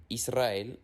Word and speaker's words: Israel: La R se pronuncia fuerte o trillada también cuando está detrás de la N, la S o la L, como por ejemplo en las palabras Enrique, Israel y alrededor.